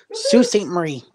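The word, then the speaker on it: Sault Ste. Marie: St Mar yep what Sue St Marie it's what Sue St Marie put that back up there I didn't know what it was ain't nobody so the L and the t is silent yeah then what you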